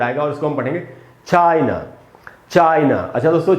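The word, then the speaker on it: China: उसके बाद दोस्तों चाइना, ये भी हमारा पड़ोसी देश है, और इसमें भी एंड में ए है, इसीलिए इसमें भी आ का साउंड नहीं, आधा अ का साउंड आएगा, और इसको हम पढ़ेंगे चाइना, चाइना।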